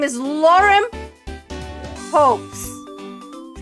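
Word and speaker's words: Paups: My name is Lauren Poes.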